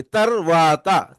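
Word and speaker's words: తరువాత: ता के बाद रा जो है साइलेंट हो जाता, तर। उसके बाद वो जो डबल ए की आवाज है वो वा के साथ लगेगी, तरवाता, तरवाता, तरवाता, यानी लेटर,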